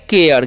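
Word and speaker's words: care: नहीं पढ़ना है देखिए सी का चन क्या करना है क क्यों जब भी ई वाई आई के अलावा जो भी सी के बाद वर्ड रहता है तो वहां पर जो है सी का न क होता है ठीक है तो क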